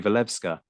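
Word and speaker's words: Walewska: That was Marie Levka. Did I get the pronunciation right on the name there?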